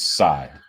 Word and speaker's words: Tsai: I think it's Tsai. All right. It's spelled TSAI.